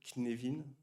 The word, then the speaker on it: Cynefin: Euh le terme Knevin, ça s'écrit comme Kevin avec un N au milieu. Kneevin, c'est du galois, ça veut dire le foyer, la maison, là où on est.